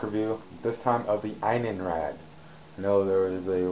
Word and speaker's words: Innenrrad: This time of the Inenrad. I know there was a little confusion about how that's pronounced. Um, but it is pronounced with a long I. So, in rad.